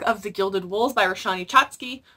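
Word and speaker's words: Roshani Chokshi: I managed to get an arc of The Gilded Wolves by Roshani Chotsky, or I think it's Roshni Chotsky. I think that's how you say it properly, sorry.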